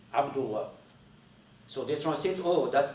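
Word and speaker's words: عبد الله: By the way, the letter ayn, how my name starts, Abdullah, it's not Abdullah.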